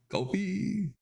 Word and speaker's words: Ko-fi: Ko-fi.